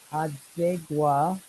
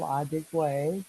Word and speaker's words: Adigwe: So, ladies and gentlemen, we've been talking with Paul Adigwa. I am trying to say his name correctly. He's a Adigwe, very, Adigwe. thank you, Adigwe. I got to put down the phonetic for that.